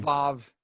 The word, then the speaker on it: Vav: Vav.